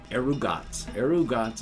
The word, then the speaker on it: Erugaz: which is ah and a z which is a ts sound so that's arugata is one of amigaratsu